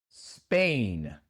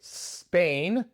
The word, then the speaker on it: Spain: Es un error muy común de los hispanohablantes porque les cuesta pronunciar una palabra que comienza con s seguida por otra consonante. Y en lugar de Spain tienden a decir Spain, Spain. Pero Spain no existe, es simplemente Spain.